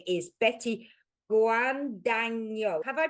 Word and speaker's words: Guadagno: Her name is Betty Guano. Have I pronounced it right? You've said it pretty good. Yes. Who is it actually? Betty Guano.